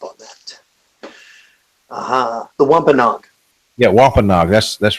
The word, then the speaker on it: Wampanoag: Yeah, Wampanoag. That's right. Oh, and I'm sorry. It's let's see, the leader of the Pokanakets, a tribe within the Wampanoag Indian Federation.